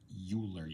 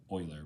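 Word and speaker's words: Euler: Um uh you could kind of you want to pretend he's called Uler you can but uh it's actually pronounced Oiler but anyway it's it's his number because his name starts with an E.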